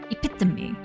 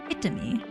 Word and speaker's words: epitome: Epitome. Epitomy. You thought epitomy's correct pronunciation was a totally different word.